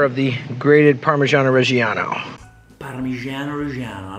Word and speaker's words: Parmigiano Reggiano: Parmigiano Reggiano, I like the way you call it. Good pronunciation.